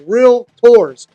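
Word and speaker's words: realtors: And I say that with two syllables. Real tours.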